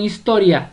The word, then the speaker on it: historia: Vamos con historia. Historia. La sílaba tónica es to.